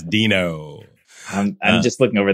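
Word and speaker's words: Deno: fresh the one that was Dino I'm saying it right right yeah yes Dino I'm I'm just looking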